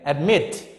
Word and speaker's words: admit: to the example okay admit so you cannot say admit no he said admit so admit so mid is the second syllable the last syllable we stress on the